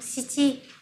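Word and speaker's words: 七: Vậy thì để nói giờ của số 7 thì chúng ta sẽ sử dụng Shichi các bạn nhé. Shichi gì? Và số 9 chúng ta sẽ đọc là Kuji.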